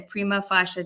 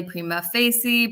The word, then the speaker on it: prima facie: get what's called a prima fasha determination right people pronounce it differently Prima Facey Prima fasha um it's all the same thing so a prima fasha